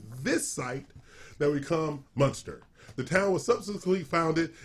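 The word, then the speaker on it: Muenster: acres for $589,900 in Munster, Texas. Munster, Texas. Fact check. Yep. All City- right. Oh, it's spelled differently. Munster cheese. M-U-E-N. Like the cheese.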